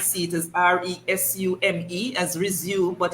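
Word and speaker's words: résumé: it as r-e-s-u-m-e as resume but it's pronounced resume in my days of going to school the e's were accented so you have the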